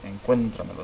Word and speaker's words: Encuéntramelo: And this is a sobreestrújula word. 1, 2, 3, 4. Encuéntramelo. This is the 4th syllable right there.